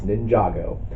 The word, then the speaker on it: Ninjago: or at least I didn't know how to pronounce it when they first announced this movie, but now I know it's Ninjago.